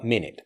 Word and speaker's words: minute: The T for minute basically disappears. Minute.